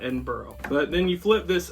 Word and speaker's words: Edinburgh: It's spelled exactly the same way, but in central Indiana it's Edinburgh, not Edinburgh.